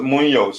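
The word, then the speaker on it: Muñoz: Kachila, Munoz is pronounced Munoz.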